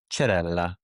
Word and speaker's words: Cerella: He's like, he's like, "Your name is or Cherella." Cuz in Italian, the CE is pronounced ch.